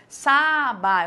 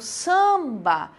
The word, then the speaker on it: samba: Por isso que eu não separo e é um som apenas, por isso a gente fala que é nasal, porque eu não falo saba, eu falo samba.